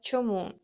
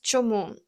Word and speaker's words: чому: Next, let's explore чому. That means why. The pronunciation is чому. The stress lands on this second syllable.